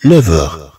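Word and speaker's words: neuf heures: إذن عندنا هنا 9h. طبعا هاد F تنطق كأنها في مع أغ تنطق كأنها في.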